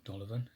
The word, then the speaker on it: Dolavon: The third option being go to Dolavon, I've been pronouncing it wrong. Dolavon is Dolavon is Spanish.